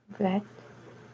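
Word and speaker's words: בית: Bet. Bet. Bet. Like a B in English.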